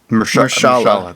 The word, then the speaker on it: Mahershala: I forget how to pronounce it exactly. Mahershala.